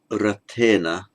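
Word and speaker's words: रथेन: The N there is not retroflex. If you pronounce the word Rata, note that the position of the tongue has had to change from where it's just been in order to pronounce a T. Having changed to a T, the position of the tongue having changed, the N now remains is a normal N.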